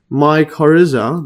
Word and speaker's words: mycorrhiza: So a mycorrhiza, this is the aided by let's just see the pronunciation.